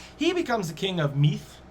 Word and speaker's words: Meath: becomes the king of meath that's what's pronounced as nowadays it's spelt m-i-d-e but it's m-e-a-t-h in english he's the king of